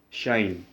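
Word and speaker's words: sinh: the first one is shine this one is pronounced as shine you pronounce this one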